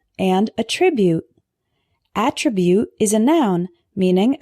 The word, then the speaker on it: attribute: with me alternate alternate the next one is attribute and attribute attribute is a noun meaning a characteristic of